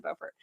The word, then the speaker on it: Beaufort: in the title, that depending on who you are and where you're from, you actually pronounce it differently. So yes, we made totally sure it is actually Beaufort.